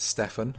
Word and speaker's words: Stefan: So my name is pronounced Stefan. So you actually pronounce the F.